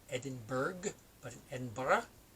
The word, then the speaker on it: Edinburgh: says Edinburgh but an Edinburgh is how it's pronounced in Scotland and it's one of